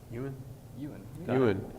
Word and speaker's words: Ewan: Before we go, I do want to thank Andy and Todd and how do you pronounce your name? Ewan.